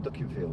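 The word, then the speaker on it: Dukinfield: Anyway, we're in Duckingfield now. It's a real name. It's not spelled duck as in duck, it's spelled duck as in D-U-K, infield. Not in a field, infield.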